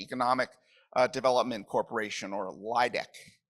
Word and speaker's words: LAEDC: uh development corporation or laidc I think is how you pronounce that acronym.